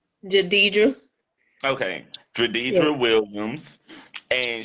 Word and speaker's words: Jidedjra: Am I pronouncing your name right? Jadidra?